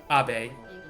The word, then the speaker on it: Abe: Actually, Abe, if we're gonna go with the Japanese pronunciation, I think. Yes. Abe.